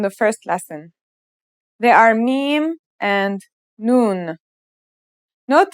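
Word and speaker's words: ميم: Now let's start with our first letter, mim. This letter sounds just like the English M, and it should be pretty easy to pronounce.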